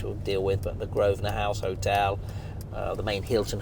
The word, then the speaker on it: Grosvenor: So going back to this area called Mayfair, the land around here is owned by the Grosvenor family, spelt Grosvenor, pronounced Grosvenor.